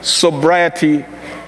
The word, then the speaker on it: sobriety: Christian sobriety in a dynamic world. What is sobriety? Sobriety, by the, am I pronouncing it well?